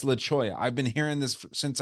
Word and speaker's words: Leola: my house it's called it's laoya but it's spelled Leola right so it's laoya and anytime like any